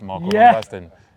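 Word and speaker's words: Marco van Basten: Marco Vanbastian.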